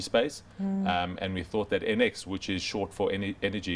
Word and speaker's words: ENX: NX, even though it's spelled ENX.